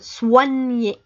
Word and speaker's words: soigner: lettres au pays combiner toutes les deux se prononce ouah donc c'est pour ça qu'on dit soigner voilà soyez prêts pour écouter la prochaine dictée